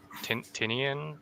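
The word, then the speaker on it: Tynion: a lot of uh James uh tinian is how you pronounce his name like his his works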